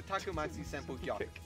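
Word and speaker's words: Tatsumaki Senpukyaku: It's a Takumatsu Senpu kick. Not that hard, guys.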